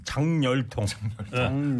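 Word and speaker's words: 작열통: 그다음에 자결통이 아니고 장열통. 장열통이에요? 니은 첨가로 가야 돼. 통증이 진짜 장렬했네. 네, 그렇게 가야 이렇게 읽어야 돼. 장열통.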